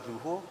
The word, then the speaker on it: lujo: In Spanish, Lujo is pronounced as Luho and it means luxurious.